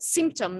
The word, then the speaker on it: symptom: So the syllable is on the stress is on the first syllable, symptom, not symptom.